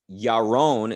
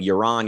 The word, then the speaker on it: Yaron: i think is that yaron is how his name should be pronounced but i i sense that over the years of him living in the u.s people would keep calling him euron iran until he he finally went along with that but now that he's